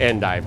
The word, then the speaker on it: endive: as you can get so we tend to call it end dive now I I Know